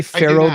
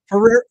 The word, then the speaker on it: Ferrero: If I say Pharaoh group, do you know what the F rer O? Does that give you a hint? Oh, Ferrero, the chocolates. Ferrero, you're right. I'm saying it wrong.